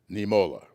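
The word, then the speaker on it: Niemöller: lutheran theologian named martin i think i pronounced his last name right nemola doesn't quite spell that way but i'm not that equipped in the german language but i think that's the way it's pronounced and i close with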